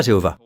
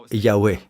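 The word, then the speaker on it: Yahweh: Ce n'est pas Jéhovah. Personne ne sait vraiment comment cela s'écrit ou plutôt comment cela se prononce. Ça s'écrit comme ça. D'accord ? Yé. Personnellement, je dirais Yahé.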